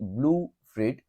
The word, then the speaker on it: blue frit: color was blue fruit that is the uh um pronunciation will be blue frit and the spelling is uh normal BL blue and frit f r i t and before the 19th